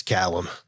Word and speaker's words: Caelum: So I pronounced it Caelum before it's Caelum.